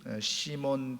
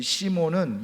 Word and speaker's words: 시몬: 그런데 그것을 그대로 헬라식 발음으로 시몬 이렇게 이름을 부르게 됐다는 겁니다. 자, 그런데 시몬은 예수님의 제자가 된 후에 예수님이 붙여주신 이름이 또 있죠.